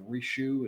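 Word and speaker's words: Richieu: had their first child i think the name is pronounced rishu it's r-i-c-h-i-e-u i'm really and there's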